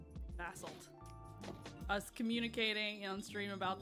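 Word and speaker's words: basalt: The British version is the soft A and the American version is the hard A.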